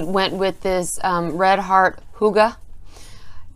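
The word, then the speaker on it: Hygge: I went with this red heart huga. H-Y-G-G-E, Red Heart, Huga, is how it's pronounced.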